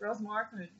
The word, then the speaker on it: Ross Marquand: Yeah, it's Ross Marquand.